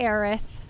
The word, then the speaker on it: Aerith: here oh my brains don't they also say arith the wrong pronunciation in my universe yes they also say aerith um like her name is aerith in this